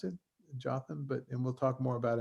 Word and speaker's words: Jotham: Yotam in English is Jotham, I think we pronounce it, Jotham, and we'll talk more about him in a second or why he's famous.